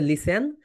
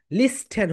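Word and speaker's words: listen: লিসেন মানে হচ্ছে শোনা এখানে একটা সাইলেন্ট লেখা আছে দেখো এল আই এস ই এন আমরা কিন্তু ঠি এর প্রোনাউন্সিয়েশন করি না এখানে ঠি হচ্ছে সাইলেন্ট যদি তুমি ঠিকে বলতে তাহলে কি হইতো এখানে বলতো লিস্টেন হতো এল আই এস টিন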